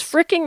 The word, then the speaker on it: frickin': Is fricking the same as frigging? I think. Are you doing the k sound on the end or the ging? Frigging or frickin'? Frickin'. It rhymes with chicken.